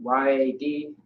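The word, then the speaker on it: יד: So Y-A-D. Yeah. Yad or yad is how you pronounce it, which means hand.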